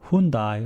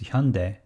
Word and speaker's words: Hyundai: as hyu and dai so many people would read as a hyundai or hyundai but its correct pronunciation is hyundai if somebody asked me